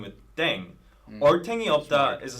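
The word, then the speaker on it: 땡: playing with language now the pronunciation of Deng is similar to Thang I was just I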